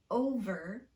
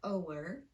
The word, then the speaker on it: over: You have to pronounce the V with unrounded lips despite that rounded vowel that's right next to it. So get in front of a mirror and practice these 10 words slowly, making sure that your lips are unrounded when you come to the V sound. Very, not wary. Over, not ower.